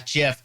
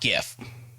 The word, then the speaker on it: GIF: his acceptance speech which iterated the pronunciation of as jeff not gif and as you can